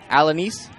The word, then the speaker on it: Alanis: Alanis. Thanks, guys. Kids over from Okeechobee making sure I get that pronunciation correct.